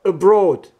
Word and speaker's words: abroad: So I stress here fa, and in the word abroad, broad. Oh, the second syllable contains the long vowel o.